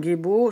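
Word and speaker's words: Gebo: alors, la rune Gébo. Oui, c'est sa prononciation Gébo.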